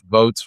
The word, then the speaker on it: Voatz: So just like if you were voting in a real election, and this software, we partnered with Votes, which is spelled VOATZ.